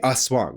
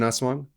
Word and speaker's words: aswang: Eventually, he learns about the aswang. You guys ever heard of an aswang? Again, hopefully I'm pronouncing this correctly. It's A-S-W-A-N-G, aswang. Aswang, I think is what it is.